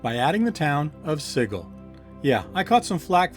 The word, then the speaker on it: Sigil: you were, outsider, but you pronounced the name of our fair city Sigil, not Sigil, and there can be no excuse for that.